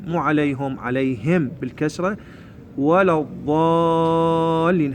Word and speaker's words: الضالين: عليهم عليهم بالكسره ولا الضالين هذا حرف الضاد اللي هو يشبه حرف الصاد اكو بعض الاخطاء الشائعه ينطقوا ضاء اللي يشبه حرف الطاء ما نقول ولا الضالين طلع لسانه اللي قدام